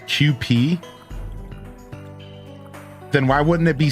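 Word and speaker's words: Kewpie: It's pronounced QP.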